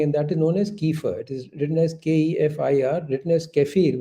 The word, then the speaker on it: kefir: very important thing and that is known as Kiefer it is written as kefir written as kefir but it is pronounced as kefir now kefir comes from many sources so any